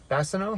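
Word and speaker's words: Bassano: Is that how you pronounce that? Basano.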